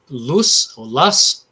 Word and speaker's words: loess: And it's called Lus, I think Glenn's the best one to pronounce that for us, but it's called loess.